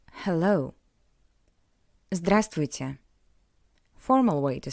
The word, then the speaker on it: Здравствуйте: Remember that in this word we don't pronounce the letter V. Здравствуйте. Здравствуйте.